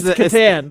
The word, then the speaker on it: Catan: Is it Catan or is it Catan? You know, tomato. Okay. I mean, I shouldn't be the one correcting anybody's pronunciation, but yeah, probably not. You probably should never pronounce anybody's normally pronunciations. Okay, there you go. All right. What is it? I just got you lost. You did. It's Catan.